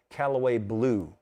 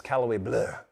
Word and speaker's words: Callaway Bleu: you think it says, Callaway Blue on this label. That is a common visitor's mistake. The locals know this is Callaway Bleu, like Bleu de Chanel.